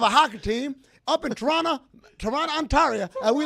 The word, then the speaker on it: Toronto: I love the histrionics and excellent pronunciation of Toronto. Because the second T is silent.